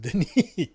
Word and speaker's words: Denis: So his name is spelled Dennis, but it's pronounced Denis.